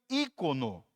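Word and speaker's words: εἰκών: imagem A primeira é o termo eono que se pronuncia ícono e a outra casso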